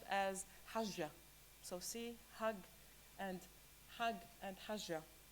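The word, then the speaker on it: حج: The Arabic word comes from this same Semitic root of the word, and it's pronounced as hajja.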